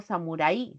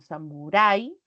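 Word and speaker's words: samurái: mantiene el dictongo y en Samuray No digo Samurai sino Samurai recae la vocal abierta se tila porque termina en vocal Así que también se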